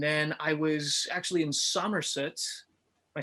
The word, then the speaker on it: Somerset: And then I was actually in Somerset. Am I saying it right? Somerset?